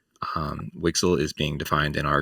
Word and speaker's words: WGSL: a new shading language wgsl which we pronounce wixel wixel is being defined in